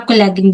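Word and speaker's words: collagen: That is forever marine कोलजन। ठीक है? जी हां कोलैगिन भी आप इसको बोल सकते हो। जो जैसे मर्जी आप प्रोनाउंस करना चाहे कर सकते हैं।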